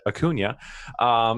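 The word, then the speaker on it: Acuña: They do have Ronald Acuna, for those of you who watched the last video and didn't like how I pronounced it, Acuna.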